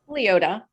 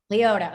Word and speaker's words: Liota: Liota. Liota.